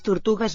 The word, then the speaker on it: tortugues: Les tortugues mengen pa. Ah, spelling is very like French here. Tortugues. And like Spanish. Keep the G a hard G sound. Show that quality by marking it with a U.